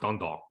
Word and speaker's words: Dundalk: you just said okay first of all it's pronounced Dundalk get it right Jamar can you [